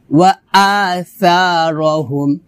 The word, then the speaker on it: وَآثَارَهُمْ: ওয়ানাক তুবু মা কদ্দামু ওয়া আসারহুম, এখানে ওয়া আসা এটা হবে না, হবে ওয়া আসা, সাটা পাতলা হবে, জিব্বার আগা উপর দাঁতের আগার সঙ্গে লাগিয়ে পাতলা উচ্চারণ করতে হবে, ওয়া আসা এভাবে, ওয়া